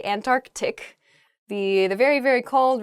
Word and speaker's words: Antarctic: is the antarctic they're sort of like almost a hiccup in the word they're antarctic oh uh in a